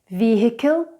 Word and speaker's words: vehicle: Vehicle, vehicle. Exhilarating, exhilarating. And the last silent letter we have for you today is the silent K.